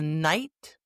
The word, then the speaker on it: knight: 3 silent Ks in one sentence. Yeah, try saying that slowly. The knight knew how to kneel before the king.